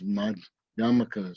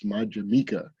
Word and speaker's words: Madhyamaka: In any event, he founded this Madhyamaka school, mispronounced often as Madhyamika, but it's not Madhyamaka.